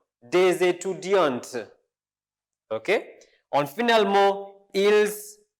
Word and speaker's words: étudiantes: Vous êtes des étudiantes. Notice here I didn't pronounce T, but here I pronounce it. Des étudiants, des étudiantes.